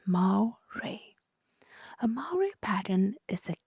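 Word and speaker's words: moiré: The absolute worst nightmare of any digital comic creator is the mo pattern pronounced as ma ray.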